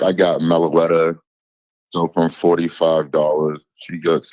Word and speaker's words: Meloetta: How do you pronounce that? Is it Meloetta?